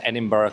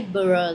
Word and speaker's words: Edinburgh: I need to check with you uh the pronunciation here, but I'm pretty sure it's Edinburgh Castle. Edinburgh. Edinburgh. I don't think people will say Burough like you said.